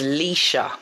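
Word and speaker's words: Lescha: so my real name or government name is lisa and i'll spell it l-e-s-c-h-a so that's l-e-s-c-h-a um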